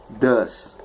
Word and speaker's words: does: Does. The pronunciation is does.